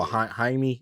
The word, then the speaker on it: Jaime: You said Jamie, that was like Jaime Jorquez. Oh, Jaime. Oh, my bad. His name is spelled like Jamie, so I said Jamie. Yeah, spelled J, but it's Jaime Jorquez.